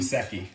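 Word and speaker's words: Gesicki: Gusecki.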